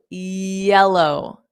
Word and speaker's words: yellow: So, yellow. So, it's the same y sound as in yell. L yell. Yellow. But when you say yell like a yell, just when you say the L, go low.